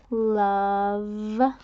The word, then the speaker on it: love: what is this word love love and that at the end is a silent e right sometimes we have those